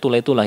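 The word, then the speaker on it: طليطلة: Kota namanya Toledo, Tulaitulah, bacanya Tulaitulah ya dalam bahasa Arab.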